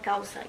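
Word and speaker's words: kawsay: Kawsai Kawsai so Buen Vivia good living uh amongst the Cayambis in northern Ecuador.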